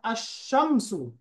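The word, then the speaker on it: الشمس: সান লেটারের বৈশিষ্ট্য হল আলের লাম উচ্চারিত হবে না। যেমন আশশামসু শব্দের শুরুর অক্ষরে তাসদিদ দিয়ে মিলিয়ে পড়তে হবে।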